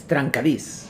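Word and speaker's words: trencadís: then I read about Tran kadis am I pronouncing that properly yes tranis a Catalan term that means chopped meaning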